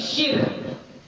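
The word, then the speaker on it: شركه: Azharuhuma wa ashharuhuma, yang paling nyata, yang paling jelas, yang paling masyhur, bi kasri syini ma'a iskanir ra'i minal isyraqi, dengan mengkasrahkan shin ma'a iskanir ra, dan mensukunkan ra, berarti syir, ya, syir.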